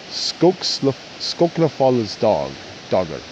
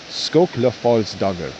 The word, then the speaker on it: Skóklafallsdagr: On June 3rd, it is Skóklafallsdagr. Excuse me, let me repronounce that for you guys. Skóklafallsdagr.